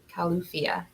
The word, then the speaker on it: Califia: you on it um it says it's pronounced cal u calufia just like our california home we're made after the